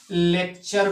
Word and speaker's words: lecture: जैसे यहाँ पे मैंने लिखा है LECTURE, यहाँ पे लिखा है LECTURE। सी से पहले क्या आया है? सी से बाद में, सी के बाद में क्या आया है? टी आया है ना, तो सी को क्या करेंगे? सी को जो है का से प्रोनाउंस करेंगे। इसको क्या पढ़ा जाएगा? लेक्चर पढ़ा जाएगा, लेक्चर।